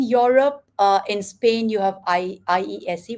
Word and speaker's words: IESE: In Europe, in Spain, you have IESE, which is pronounced ASA, IE, ESADE.